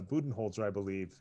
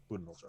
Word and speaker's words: Budenholzer: So it's a Budenholzer, I believe, is how it's pronounced, right, Brian? Or is it Budenholzer? Budenholzer.